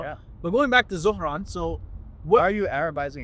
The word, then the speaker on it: Zohran: it's not Zoran, it's Zohran. Everybody calls him Zoran Mamdani. Yeah, that's like the white way of saying it.